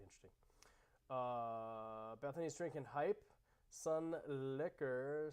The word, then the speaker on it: Sunlicker: uh bethany's drinking hype sun liquor sun licker yup exactly it's great liquor and liquor same same pronunciation same sound life of